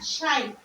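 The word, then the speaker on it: psi: সাই অনেকে আবার সাই বলে সাই না সাই। এটা উচ্চারণ হবে সাই।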